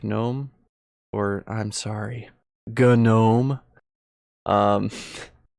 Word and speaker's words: GNOME: It's actually GNOME. So actually, as a joke, like I add the hard G to everything now.